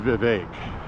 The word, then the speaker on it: Vivek: It's pronounced Vivek.